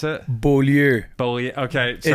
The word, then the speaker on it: Beaulieu: Is that how you pronounce it? Beaulieu.